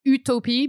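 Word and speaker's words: Utopie: of my favorites is utopi I mean we say utopi but it's spelled like Utopia but with an e at the end is it near open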